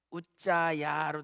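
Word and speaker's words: עֻזָּא: 히브리어는 똑같이 우자야로 되어 있어요. 우자 히브리어는 우자, 울자 말고 우자, 우자.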